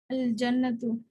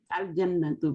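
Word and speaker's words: الجنة: Al-Jannatu. Al-Jannatu, very good. Okay, here we are reading Al, you know, Al-Jannatu, because these are Qamri letters. In Qamri letters, we pronounce Alif, Lam, Al, okay?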